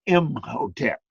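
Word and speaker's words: Imhotep: that pyramid built by M Hotel the Vizier and that's that's pronounced him hotel you see it up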